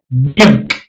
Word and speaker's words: nyunk: Okay, nyunk. I don't care how you spell it, N-Y-U-N-K or N-U-N-K, nyunk, nyunk, nyunk, nyunk, nyunk. When you say nyunk, it's a very guttural sound.